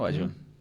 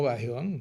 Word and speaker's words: Bajeón: Raúl Alejandro Bajeón López, o Bayón, ¿cómo le gusta? ¿Bajeón o Bayón? No, Bajeón. ¿Bajeón? Sí.